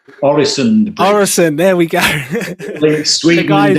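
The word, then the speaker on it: Øresund: Is it the Orson Bridge? Orison.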